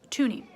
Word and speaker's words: toonie: here and this is called a toonie and it's spelt like this t o o n i e tooney it is worth two dollars so this is called atuni so if you have to stop this at